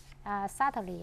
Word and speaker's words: subtly: Subtly, I think I would say it's uneasily to be detected.